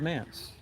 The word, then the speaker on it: manse: How do you pronounce this name? The old manse. It's Mance?